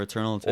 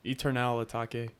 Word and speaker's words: Eternal Atake: Or Eternal Take.